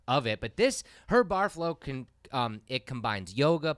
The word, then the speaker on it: Barreflow: yeah she is the owner and creator of bar flow I pronounced that right right you got it bar flow Carly went on to create this program teaching